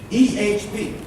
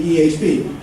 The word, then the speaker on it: EHP: EHP. I used to say EH, but then George says it has to be EHP to rhyme with EMS.